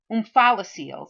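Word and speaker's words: omphalocele: hernias for um um umphala seals that's how you pronounce this word umphala seals and the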